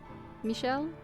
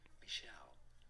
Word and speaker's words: Michel: how to say it it is usually pronounced as Michelle Michelle from French Melle Michelle okay I